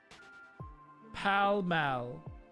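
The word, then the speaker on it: Pall Mall: Buckingham Palace is in Paul Pal Mall. That's in Monopoly. So there still a palace. Is there like a backup palace? Pal Mal. Wait, Mal, not mall.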